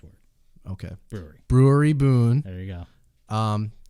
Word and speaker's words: Brouwerij: You got it right to say it's Brewery Boon. You got it right the second time. Well, I said the breweries found in Denmark and Belgium. Well, that's the correct word. Okay. Brewery Boon.